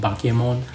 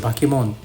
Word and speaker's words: Bakemon: using the term bakim mono it just called bakon and that's why it's pronounced bakon right and um yeah I hope I've convinced